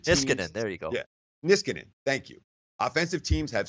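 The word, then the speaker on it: Niskanen: caps defenseman Matt miss concern how do you pronounce his name is Canaan quote dissidence if just gonna there you go miss cannon thank you offensive teams have certain tendencies certain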